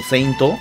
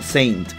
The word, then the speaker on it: Saint: Es por eso que decir cosas como Athena no Seinto está mal, es Athena no Saint en todo caso. Sí, ya sé que los japoneses lo pronuncian Seinto, porque así pronuncian ellos el inglés, pero nosotros decimos Saint Seiya, no Seinto Seiya.